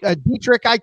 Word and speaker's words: Dietrich: I knew when the kid crossed home plate, and Dietrich, his name's spelled weird. I think it's Dietrich's how you pronounce it.